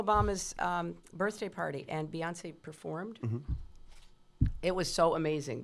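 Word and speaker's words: Beyoncé: A lot of black people feel like they don't trust you because you you mispronounced Beyonce's name. Have you learned to say it correctly yet? Well, you just said it correctly. Beyonce, right?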